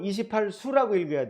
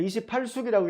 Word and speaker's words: 28수: 28수라고 할 때 한자로 여인숙, 숙박 할 때 그 머물 숙자를 씁니다. 근데 그때만큼은 28수라고 읽어야 돼요. 그 별자리 숫자입니다. 그 28숙이라고 읽으시면 어디 가면 막신당하실 수도 있습니다. 주의하세요.